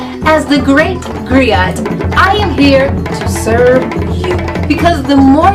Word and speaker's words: griot: to share that history with you agrio it's pronounced Grio or in English Agri it's a West African